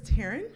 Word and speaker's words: Taryn: yes my name is Taryn so it's like Karen but with a t yep two extra letters